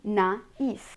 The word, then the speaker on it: naïf: Another example, naïf, naïf, which means naive.